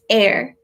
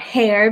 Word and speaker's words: heir: stay tuned type in there is air not hair because it's spelled h e ir it's air like an heir to the throne shall connect the king taki then their own our bodies have you on our son or daughter to become you know the next person to rule the kingdom or whatever that's an air but it spelled hei